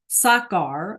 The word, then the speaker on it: sacar: Sacar, okay? Then that C is like a K, right? Buscar and sacar.